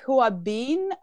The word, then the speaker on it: Huabin: question for you even though your name is hua been by the way i am pronouncing it correctly my chinese is not so